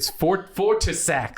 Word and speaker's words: Fortissax: Speaker: Speaker: No, it's Fortissax. Speaker: Fortissax. Speaker: I'll spell it for you.